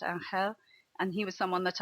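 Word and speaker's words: Ángel: I think one of the highlights was meeting a Valencian called Angel, which is written Angel, but it's pronounced Angel.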